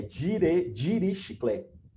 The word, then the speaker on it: Dirichlet: Eu não vou pronunciar o nome dele porque é difícil, né? É Dirichlet, mais ou menos assim, tá? É uma coisa parecida com essa, mas o que menos importa é o nome, né?